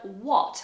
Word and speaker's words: what: going on and finally the word what which for us has the same vowel o what but in america changes completely to what what so that sounds almost like a you does it what like a schwa say what say what okay but for us it's what what are you doing what